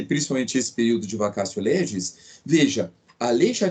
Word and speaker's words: vacatio: Se escreve vacatio, mas a pronúncia é vacatio, tá? Então, em latim, o T tem a pronúncia de C, tá? Vacatio legis.